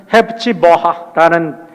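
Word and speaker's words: Hephzibah: 헵시바라는 단어는 헵치버하라는 거고 뷸라라는 것은 베울라라고 읽는 건데 우리나라 말로 뷸라라고 이렇게 번역을 했어요.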